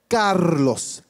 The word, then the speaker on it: Carlos: I know that you can roll your R's correctly. So if you guys could just give me a good afternoon, Carlos.